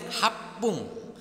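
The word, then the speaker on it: はっぷん: Kalau 1 menit berarti ipung double P. Kalau 6 menit ropung. Kalau 8 menit hapung. Kalau 10 menit jupung atau jipung.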